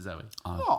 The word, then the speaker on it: Zoe: deel or Zoe D it looks like zoie but I think she says just pronounce it Zoe zo but yeah so she